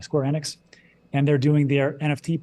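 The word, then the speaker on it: Square Enix: and now they just partnered up with square square onx I always say it wrong square enx and they're doing their nft project on that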